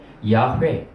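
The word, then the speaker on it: יהוה: 근데 이제 히브리어로 하면 야훼. 발음하기도 힘든 단어예요. 사실은 발음이 안 되는 단어입니다. 굳이 하자면 야훼지 발음이 안 되는 단어예요. 모음이 없는 단어거든요.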